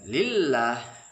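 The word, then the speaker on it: لله: Mengucapkan lillah, kebanyakan kita membaca Allah. Maka perbaiki dengan menggantungkan ujung lidah kita ke langit-langit depan atas.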